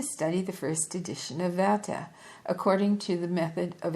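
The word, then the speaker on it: Werther: the first edition of Worther. You know, I'm pronouncing this wrong. Let me see. Va is how you actually pronounce it. It's a German word, but uh it's we rer t.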